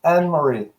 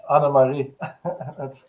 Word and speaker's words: Anne-Marie: It's Anne-Marie. What was she saying then? What was she saying? I was telling it in Dutch, Anna-Marie.